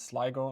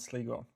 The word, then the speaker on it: Sligo: Many people have pointed out that I pronounced the tournament incorrectly, so it's Sligo, not Sligo.